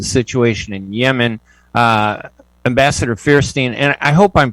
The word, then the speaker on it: Feierstein: to discuss the situation in yemen uh ambassador fearstein and i hope i'm pronouncing your last name correctly it's it's good